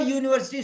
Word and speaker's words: university: In writing, you use U. But in speaking you pronounce Y first.